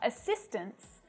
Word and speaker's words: assistants: But when the S is added the T softens and most of the time you can't even hear it.